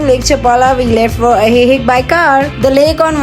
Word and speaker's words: Ajijic: And finally we reached Ajijic. The letter J is pronounced like H in Spanish.